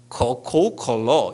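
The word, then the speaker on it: 可口可乐: 그런데 더 놀라운 건요, 이걸 중국 사람이 발음하면, 우리 이곳에 중국말 하시는 분이 계신지 모르겠는데, 이 코카콜라라는 가구가락이라는 한자어를 중국말로 발음하면 코코콜러 이런데요. 코코콜러. 그러니까 어떻게 돼요? 코카콜라 비슷하게 들리잖아요.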